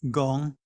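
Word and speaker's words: 工: The river is pronounced jiang, but the phonetic is pronounced gong. In Chinese, in ancient times, those 2 were pronounced the same.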